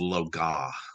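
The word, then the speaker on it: Loagaeth: how to pronounce, or for some reason the AETH, the eighth at the end of it, is silent.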